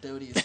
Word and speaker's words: Doty: I think it's actually pronounced Dowdy, but Doty.